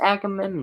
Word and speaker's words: Agamemnon: How to pronounce Agamemnon? The following pronunciation. Agamemnon. Oh, I said it right.